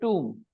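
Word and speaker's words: tomb: B is silent yeah the other day I read the word t MB Tom do you remember yeah I read the word t MB Tom and today I'm reading Dum again I'm keeping B silent isn't it enough message for you that okay when you have m and b together then B is silent now I'll give you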